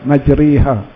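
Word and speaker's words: مجريها: Ejaan dia majroha, tapi kita baca dia majriha.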